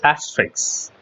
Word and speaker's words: asterisk: Of course, don't pronounce it asterisk. It's asterisk.